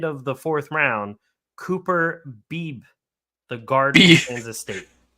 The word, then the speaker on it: Beebe: the 4th round, Cooper Beebe, the guard from Kansas State. Beebe. Yeah, that might not be how you pronounce his name, but it's B-E-B-E.